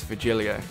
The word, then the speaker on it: Virgilio: look winded virgilia pronounced very hero no I'm pretty sure it's virgilio you said as much the